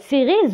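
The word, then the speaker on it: séries: يعني صغارين و مسلسلات سيريز هما سمحوا لي عفاكم كنطق مرمره بالونجلي دي ميني سيري. هادو سيري ما كتنطقش هاد اس.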